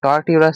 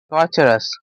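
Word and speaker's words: torturous: এবার টরটিউরাস থেকে কি মনে পড়ছে যে, সরি এটা উচ্চারণ কি হবে, টর্চারাস। একটা ওয়ার্ড ছিল TURE, টর্চার। টর্চারের সঙ্গে ইউএস লাগিয়ে দিলাম, তখন কি হয়ে গেল, টরটিউরাস হয়ে গেল, তাই তো।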